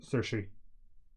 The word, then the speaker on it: Saoirse: No, It's in Lady Bird, it's Saoirse. Saoirse. Saoirse. Yeah, Saoirse. Rhymes with inertia.